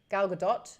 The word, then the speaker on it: Gal Gadot: career it's been going a while yeah um gal gadot is how you say her last name do